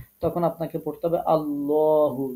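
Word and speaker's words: الله: আপনি পড়তে যাবেন তখন আল্লাহ পড়া যাবে না তখন আপনাকে পড়তে হবে আল্লাহু ল পড়তে হবে পড়তে হবে ঠোঁটটা গোল করতে হবে আল্লাহু এরকম ভাবে পড়তে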